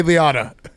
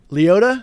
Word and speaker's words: Liotta: his name right Rihanna rest in peace Ray Liana Leota yeah there you go um they didn't say